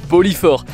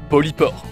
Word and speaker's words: polypore: long de la vidéo je nomme ces champignons poli fort alors qu'en réalité est bien ça se prononce polycor donc voila mon cerveau